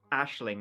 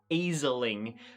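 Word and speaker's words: Aisling: by the way Ashling it's an Irish name and it's pronounced Ashling not easiling like everybody I watched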